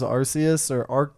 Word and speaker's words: Arceus: hours so far of the new Pokemon Legends Arceus apparently it's pronounced Arceus in English, but like if you watch Arceus, I don't know.